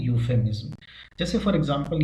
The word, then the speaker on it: euphemism: इसका सही प्रोनाउंसिएशन होता है यूफेमिज्म।